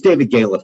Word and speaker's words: Galef: It's David Galef, by the way, but everyone mispronounces it.